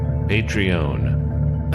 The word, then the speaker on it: Patreon: We've even got one of those Patron things, Patreon. I always pronounce it like the tequila.